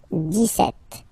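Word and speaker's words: dix-sept: okay so it's clear but then for the pronunciation Des set okay so you don't insist on this deset deset deset okay then so you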